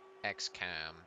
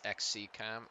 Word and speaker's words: XCom: I always say X-Cam. Is it X-C-Cam? I don't know. I always think of, like, XCOM, the game. So that's how I pronounce it. So we've been stalling down the clock pretty okay so far. Not to jinx myself. Yeah, XCOM just like rolls off. It's XCOM? Okay. I can attempt that.